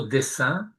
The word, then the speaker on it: dessin: Il dit "Ben en français quand je dis le mot dessin, je peux l'écrire de deux manières différentes. Je peux l'écrire DE 2S I et je peux l'écrire DE2S e I. Ça se prononce de la même manière mais ça a pas